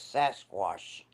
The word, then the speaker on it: Sasquatch: out wait a minute you're not pronouncing it right it's sasquash oh sasquash yeah okay all the